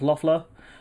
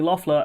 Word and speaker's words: Loeffler: So Georgia Senator Kelly, I think her name is pronounced Loeffler, was also at the meeting with Burr.